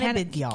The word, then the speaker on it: Cannabidiol: Cannabidiol.